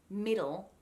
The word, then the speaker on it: middle: it's not that separated the d and the l sounds kind of blend together or at least a very quick so the way that i would pronounce the word middle when i hit that